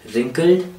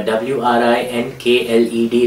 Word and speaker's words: wrinkled: in this chapter are wrinkled uh w r i n k l e d wrinkled the W is silent so we don't say